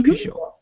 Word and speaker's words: Peugeot: Peugeot.